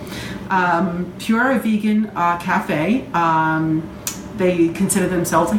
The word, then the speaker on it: PuraVegan: That's P-U-R-A, PuraVegan Cafe. I just wanted to spell it out so you didn't think I was just saying pure wrong. PuraVegan Cafe.